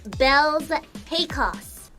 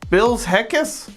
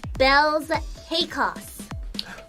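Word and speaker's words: Baelz Hakos: My name is pronounced Bells Hakos. Bill's Heckus? Bells Hakos.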